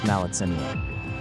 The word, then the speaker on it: Maletsunyane: Then you turn the corner, and there it is, Maletsunyane Falls, pronounced Maletsunyane.